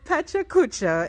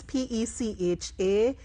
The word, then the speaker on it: PechaKucha: So Pachacucha is very familiar within the entrepreneurial space, right? It's Pechakucha.